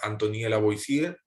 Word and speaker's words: Antoine Lavoisier: Bien, y bueno, aquí les dejo, por ejemplo, una imagen de la Antoine Lavoisier, en la pronunciación en francés, él es científico francés,